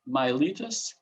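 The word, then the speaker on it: Miletus: um an electron stator from milettos or as some other people uh pronounce it myelitis um from 650 to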